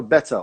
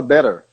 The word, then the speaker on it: better: A palavra better ou butter, eu falo com T, que é o que é pronunciado pelos ingleses. O americano, ele fala better, ele fala butter. O T vira R.